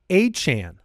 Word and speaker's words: Achane: Devon Achane is the way that he has asked his name to be pronounced.